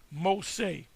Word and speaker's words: Mose: And you had the Purchase, the Louisiana Purchase, a town of Fort Mose, pronounced Mose.